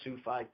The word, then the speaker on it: Sufi: So Salafi, 3 syllables, Sufi, 2 syllables.